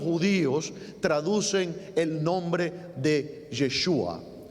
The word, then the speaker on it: Yeshua: nosotros conocemos como J, en realidad se pronunciaba como una Y, como una Y. Entonces era Yeshua. Y con el tiempo, cuando